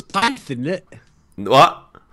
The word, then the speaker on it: Pyth: Isn't it Python instead of Pouth? Well, look, it's spelt like Pyth, as in Python, which is what I always thought it was. How it's supposed to pronounce it? Yeah, but like Scandinavians, their language is all fucked up. They got all these crazy sounds that like British people have never encountered before.